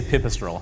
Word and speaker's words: Pipistrel: This is there's as many ways to pronounce the name of this company as there are people who try to pronounce it. We say Pipistrel, and that's the Pantera.